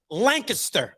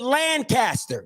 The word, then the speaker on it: Lancaster: In Texas, this word is pronounced Lancaster. Okay. Yeah. In Maryland, we call it Lancaster.